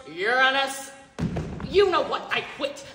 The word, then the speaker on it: Uranus: name what's what's wrong with Uranus actually it's pronounced Uranus you know what I quit I said I